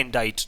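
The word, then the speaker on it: indict: next है हमारा इंटेड अब देखिए इसकी स्पेलिंग तो है लिए सिटी बट इसको एक्चुअल में बोला जाता है इंटेड तो इंटेड क्या एक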